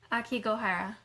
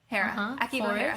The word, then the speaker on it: Aokigahara: Oh, let me go back to Aokigahara? my pronunciation. Aokigahara. Aokigahara.